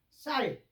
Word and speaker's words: 쌀: 그건 뭐냐면 쌀 쌀 소리가 안 나와요. 그 쌀라 그러면은 샬하는 거. 목사님 아니라 쌀이에요.